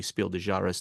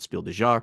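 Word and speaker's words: Spiel des Jahres: the jury of the Spiel dejaris which um I'm finally pronouncing correctly consistently Spiel dejaris not Spiel dear uh that they have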